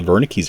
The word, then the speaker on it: Wernicke: you have also the wernicke's area again it is spelled with a w but you pronounce it as wernicke so again that's the